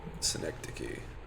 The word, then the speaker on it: synecdoche: I bet synecdoche is the first word that every single streamer pronounces incorrectly in this game. Oh, yeah. Synecdoche. Synecdoche, or... Yeah, that's usually Synecdoche. I thought it was that for a long time, to be fair. Yeah, no, I only know how to pronounce it because of the Charlie Kaufman film.